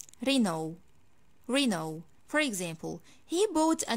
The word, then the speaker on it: Renault: the last car brand in this video i pronounce it like reno renault reno for example he bought a new renault car